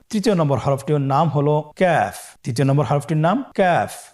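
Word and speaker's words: ك: আবার বলুন ক্যাফ। কাফের মাখরাজ আমরা স্ক্রিনে দেখতে পাচ্ছি। কাফের মাখরাজ হলো জিহ্বার গোড়া থেকে একটু আগে বাড়িয়ে তার বরাবর উপরে তালের সঙ্গে লাগিয়ে উচ্চারিত হয়।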